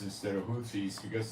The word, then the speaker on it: Houthis: I don't know why I call them Houthis instead of Houthis, because they spell it in English with an H, which is not pronounced as a W.